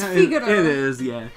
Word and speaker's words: Figaro: Like, look at it, it's Figaro. It is, yeah. I've always pronounced it Fiargo, but it's not that. No. There's no R in it.